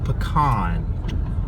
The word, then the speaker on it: pecan: I know in other parts of the country that is pronounced pecan, but we call them pecans around here, people.